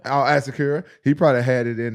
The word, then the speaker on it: Asakura: Asakura. Asakura.